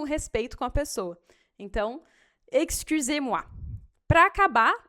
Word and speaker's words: excusez-moi: Então, excusez-moi. Para acabar, ó, o X aqui, pronúncia ainda. Esse X você vai pronunciar com som de KS, assim. Excusez-moi.